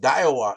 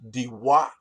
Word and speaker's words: Daiwa: yeah it is that it's not pronounced daiwa it's actually pronounced diwa okay but i say daiwa right because i'm a